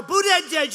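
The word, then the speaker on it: Buttigieg: their debates are dying who wants to watch buddha edge edge you know that you pronounce it they say i heard some guy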